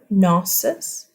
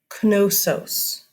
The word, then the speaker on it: Knossos: hear people say nauseous the K is silent gnosis or you will hear people say gnosis gnosis or you will hear people say Knossos you say the K